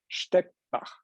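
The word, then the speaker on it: Stettbach: wrench that bach but if you actually pronounce it normally what you will hear is step back you will not hear the t at all why because the t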